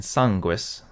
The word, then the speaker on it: sanguis: two syllables not three and sanguis also has two syllables not three and some texts replace